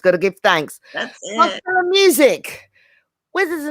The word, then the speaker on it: Marshella: So, Marshella, am I saying it correctly? It's Marshella. Marshella.